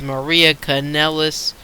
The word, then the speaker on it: Maria Kanellis: he goes well ec3 you pronounced my name wrong it is maria kanellis your toast McGee I'm